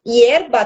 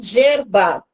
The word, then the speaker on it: yerba: Hierba também se escreve com Y. Ela não fala hierba, ela fala yerba. Isso das palavras que ela falou aí enquanto ela explicou sobre o mate, né?